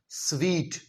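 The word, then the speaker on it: suite: इसका उच्चारण होता है स्वीट। जी हां, स्वीट।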